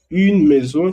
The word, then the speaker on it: maison: Une maison, que es una casa, de maison. No se pronuncia un maison, porque decía que AI se pronuncia E en francés.